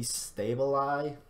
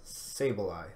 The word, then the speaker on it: Sableye: The main thing they really gained, I suppose, would be Stableye. Not Stable, Sableye, that's how I pronounce it.